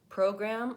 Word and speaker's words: program: with pronunciation in addition program again that vowel oh you're gonna want to hold that longer that's where the stress is program voltage again bowel oh